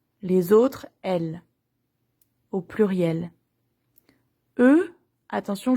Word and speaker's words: eux: Eux, attention, je prononce pas le X.